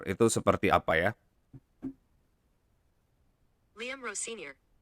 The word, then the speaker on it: Rosenior: Ini teman-teman coba dengar pronunciation Liam Rossonier itu seperti apa ya. Liam Rossinier. Tuh, kalau di Google bilangnya Rossonier.